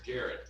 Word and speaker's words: Jared: All right, first up we have, is it, pronounce it or Jared. Jared? Okay, Jared.